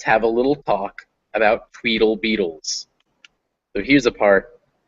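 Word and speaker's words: tweetle: know in advance um the word spelled t-w-e-e-t-l-e that's pronounced tweedle and part of the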